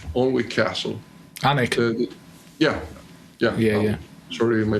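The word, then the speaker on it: Alnwick: visited some of the famous castles castle castle all Weck all Castle anik yeah yeah yeah sorry my bad pronounce that's all right you can't speak Scottish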